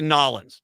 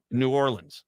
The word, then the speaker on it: New Orleans: And don't say Nolans. No, New Orleans.